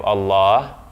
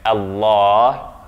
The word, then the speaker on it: Allah: a previous session that the lam here is emphatic. It's the only case in which it will be emphatic in the name of Allah. Therefore, the vowel that comes after that lam is ah and not a.